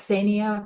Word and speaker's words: Ksenia: That's Sia K is silent for those of you who haven't met me yet.